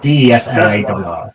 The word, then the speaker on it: Deslar: Deslar. Deslar. D-E-S-L-A-R. Deslar. Like the Death Star without a T.